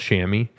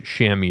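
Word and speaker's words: chamois: sham is acceptable as an American English uh pronunciation is as well as Shamy and then in U in British English Shamy is the preferred pronunciation heads up everybody uh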